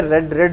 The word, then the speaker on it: read: जैसे hit होता है, read होता है, read प्रोनाउंस करने में रेड यूज़ होता है, लेकिन स्पेलिंग जो उसकी है रीड हो, ऐसे ही लिखा जाता है, ठीक है। प्रोनाउंस रेड करते हैं, कहीं आप उसको RED रेड वाला ना समझ जाओ, इसलिए मैंने आपको ये